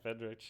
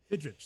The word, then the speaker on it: Fidrych: I only saw it in print, which is Mark Fidrych, I believe is how you say it. Oh, yeah, Fidrych. Yep. Fidrych.